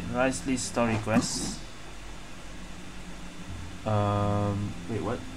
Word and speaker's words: Wriothesley: this time I'm playing rice Le that's how you pronounce it rice Le story Quest um wait